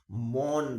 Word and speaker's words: Mon: भाषा बोली जाती है उसे बोलते हैं बच्चों मौन भाषा ओ एन मोन या मोन प्रोनाउंस करते होंगे ठीक है तो कुछ मोन